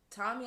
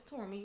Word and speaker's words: Tormi: He's like, "So is it Tommy?" I said, "No, it's Tormi. You pronounced it right."